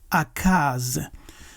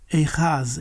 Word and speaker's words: Ahaz: The consonant chet is pronounced as KH. So we will say Akaz. In Hebrew they will pronounce it Echaz, Echaz, Echaz, but we say Akaz.